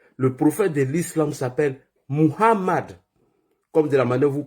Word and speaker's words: Mohammad: la paix d'Allah sorcellu s'appelle pas Mahomé. Il s'appelle pas Mahomé. Mahomé c'est un vendeur d'acheké. Il est à Trèjeville. Si tu le cherches, tu le trouves là-bas. Le prophète de l'islam s'appelle Mohammad comme de la manière